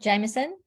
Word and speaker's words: Jamieson: Yep, Jamieson.